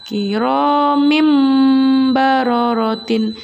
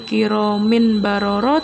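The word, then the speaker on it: كرام بررة: harkat tanwinnya di sana harus diganti dengan suara mim atau ditukar dengan suara mim ya Nak ya Gimana cara bacanya kiromim baru rotine kiromim baru rotine kiromim marotin Jadi bukan lagi kiromin baroroh ini anak ya tapi kiromim marotin ingat kedua bibir kalian harus dirapatkan sambil mendengung Hai kemudian contoh yang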